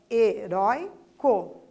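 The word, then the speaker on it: heroico: Então, vejam, heróico. O rói é a sílaba mais intensa, certo? Então, ali perdeu o acento. Por quê? Porque é uma paroxítona terminada em O.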